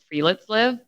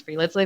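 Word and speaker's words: friluftsliv: chapter is about this wellness concept it's called free let's live it's spelled f t f-r-i-l-u-f-t-s l i v pronounce free let's live in it it essentially translates to the free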